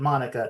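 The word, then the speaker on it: Maneka: He pronounces it Monica.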